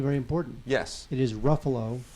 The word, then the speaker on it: Ruffalo: important yes it is Ruffalo rhymes with Buffalo not mark rafalo Ruf how about rufalo